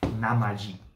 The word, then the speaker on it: Namiji: be a fun fun little play of tokaido namaji is the pronounced so pretty they have dolphins bless you